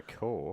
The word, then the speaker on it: Cor: over core. Cor. So, yeah. Cor. It sounds like, yeah. Oh, I don't really feel like going out tonight. Cor. Cor. Cool. Oh. Check out her tits. Core.